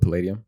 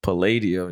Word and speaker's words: Palladium: the what is it at Mar the Hollywood padium Palladium yeah see I knew it was you say